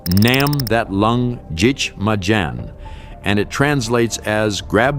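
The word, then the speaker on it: Nắm thắt lưng địch mà đánh: In Vietnamese, it's pronounced Nam That Lung Jich Ma Jan, and it translates as grab the enemy by the belt and fight.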